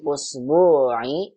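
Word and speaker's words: الأُسْبُوعِ: Usbu'i, Bu-nya panjang.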